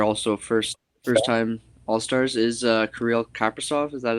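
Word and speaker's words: Kaprizov: I wasn't necessarily taking underrated players, but just who I'd like to see, and they're also first-time All-Stars, is Karil Kappersoft. Is that how you pronounce his name, correct?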